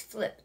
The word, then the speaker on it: Flyp: to the computer and this is how it is spelled it's flip flyp and what you do